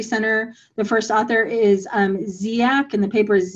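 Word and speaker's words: Dziak: from the methodology center the first author is ziac and the paper is ziac at all it's spelled d-z-i-a-k it's in i believe structural equation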